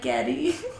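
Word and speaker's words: Geddy: Getty Lee's mom is Russian and so his name's Gary, but his mom pronounced it like Getty.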